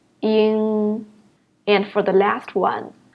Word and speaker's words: ing: The first one, It is very similar as the word song, And the second one, And the third one is similar as the word sing, ing.